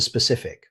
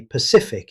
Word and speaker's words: specific: Moving on to specific. Believe it or not, many learners accidentally say pacific instead. The correct pronunciation is specific. Be sure to stress the -cif syllable.